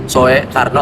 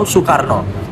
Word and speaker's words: Soekarno: Terus kemudian ada OE ya, sebagaimana yang tadi di awal video, Soe Karno atau Soerat itu dibaca buat huruf U. Jadi ya, Surat atau Soekarno.